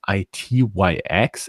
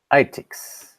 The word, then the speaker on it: ITyX: It's not pronounced ITYX; it's pronounced ITIX.